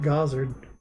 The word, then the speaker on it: Gozard: And so I just started calling it Gozard. I like Gozard more. It's funny how that like pronunciation can make such a big difference. Plus, my game Gozard is kind of like a god game, so it makes sense to pronounce it that way too.